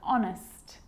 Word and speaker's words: honest: why and whistle and sometimes it's not pronounced at the start of a word like honest and our and sometimes